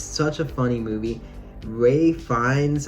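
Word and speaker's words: Ralph Fiennes: Ray Fiennes, I think that's how you say his name, Voldemort, is fucking phenomenal in this movie.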